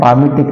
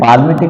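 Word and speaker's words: palmitic: पामिटिक acid. पामिटिक acid, पाल्मिटिक नहीं बोलते, एल इसमें अनप्रोनाउंस है बेटा, इसकी उद्भाग इसको बोलते नहीं है, पाल्मिटिक नहीं बोलते, पामिटिक एसिड।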